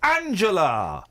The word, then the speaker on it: Angela: Angela, when you hear Angela Merkel pronouncing her name with a hard G, that must really irritate you. Oh, I'm used to it now. Yeah, you're used to it. You're used to her hard G.